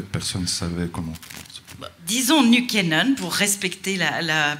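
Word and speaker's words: Nykänen: qu en fait personne ne savait comment disons-nous kenan pour respecter la prononciation c'est l'histoire de l'ascension fulgurante et de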